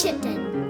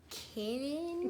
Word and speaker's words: chitin: it's chitin. Chitin. So you were right that it's a ch sound. We got the middle sounds wrong. Chitin. Mom was totally wrong. She was like, kitten? Chitin. Chitin's like a god.